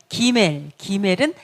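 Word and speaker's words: גימל: 그 다음에 기멜은 3번이죠. 3번. 네, 그래서 이거는 그 발음. 이것도 다게시가 있어요. 강세가 있어요. 점이 있으면 그 발음이 나요. 그 발음. 그 다음에 점이 없으면 GH 발음이거든요. 그래서 이게 어떤 발음일까요? 네, 약간 부드럽게 이런 근데 우리가 좀 기억하는 거는 그냥 그 발음으로 기억하시면 돼요.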